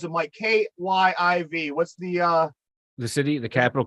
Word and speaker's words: Kyiv: How do you pronounce it, Mike? Kyiv.